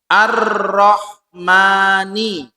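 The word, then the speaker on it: الرَّحْمٰنِ: Nah, karena ini alif lam syamsiyah itu bacanya langsung masuk ke huruf ro. Ar-Rahmani.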